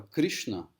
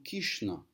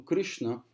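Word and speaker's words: Krishna: família sem muita instrução eles pronunciam a palavra Cristina como kishnan eles não falam o r tá isso é um é um vamos dizer assim é uma prática comum entre as pessoas menos educadas aqui na Índia eliminar o r das palavras tá o que inclui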